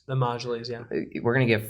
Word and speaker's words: Majlis: It's the same thing as Iran, who says we're going to give 5 seats in our, how do you say it, Majlis? The Majlis, yeah.